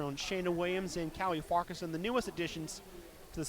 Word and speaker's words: Farquharson: They try to pronounce the Q-U-H all separately, but it's Farquharson.